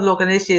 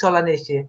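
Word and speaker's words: Solanaceae: It's not Loganesiae, it's Solanesiae.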